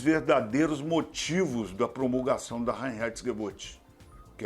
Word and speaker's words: Reinheitsgebot: Mas a gente vai explorar os verdadeiros motivos da promulgação da Reinheitsgebot, que é a lei da pureza da cerveja.